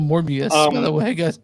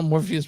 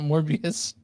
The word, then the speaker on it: Morbius: of those movies called morbius now Morpheus but morbius at least that's right the more I missed